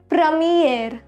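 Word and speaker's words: première: then we have a premier class or premier class this is pronounced as pramier this means in first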